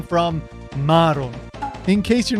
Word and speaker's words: Maron: That daughter is named Maron. Note that the ma is a long syllable. Krillin's ex-girlfriend is Manon. It has a short ma.